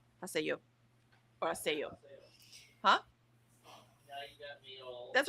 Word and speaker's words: Haseo: I was putting the accent on the say. So Haseo. So the accent's on the yo. Haseo.